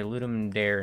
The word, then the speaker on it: Ludum Dare: say ludum dare not ludum De Ray um I mean technically uh is a colloquial pronunciation is ludum dare but um it comes from Latin so the second one I think is technically correct uh but no one